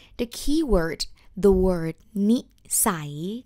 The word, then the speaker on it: นิสัย: Before we start with this topic, I would like to introduce you one word, the key word, the word nisai, nisai. Ah, and it's spelled like nonu sarai.